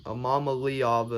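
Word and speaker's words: Iamaleava: automatically I'm thinking Nico AMA lava cuz that's what how I say his name amama leava is like his name but I sayama laava um you think I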